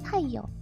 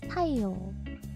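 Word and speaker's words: 太陽: Taiyo has a long O. It doesn't have taiyo. It's taiyo.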